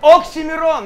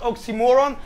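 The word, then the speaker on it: Oxxxymiron: say my name right oxymeron not oxymoron i get fools destroyed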